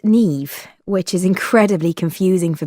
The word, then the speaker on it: Niamh: say my arm or knee arm or nine it's just impossible unless you know but once you know it's easy you just say me and put a V on the end five my name is